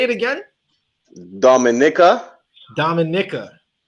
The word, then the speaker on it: Dominica: next one the minute not Dominican Dominican no not Dominican Dominica I you know